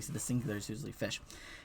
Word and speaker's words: fisc: this time and not fisk. On the continent, this was still pronounced fisk in most places. But in Old English, we had palatalization here. After the S, the C becomes sh, so it's fish.